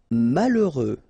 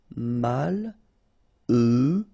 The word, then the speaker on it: malheureux: Malheureux. H doesn't exist, okay, so you get mal, heureux. Final X not pronounced. Malheureux.